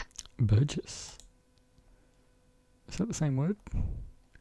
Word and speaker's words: burgess: each man of them appeared a proper burgers burges to sit in guild hall. How do you pronounce it? I've got to know. I've got to know pronounce. How do you pronounce it? Burgess. Burgess.